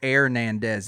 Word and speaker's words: Hernandez: you'd that sounded way you made it sound like your last name was air nandez and it starts but it starts with an H yeah the H is silent what it's Hernandez you don't do the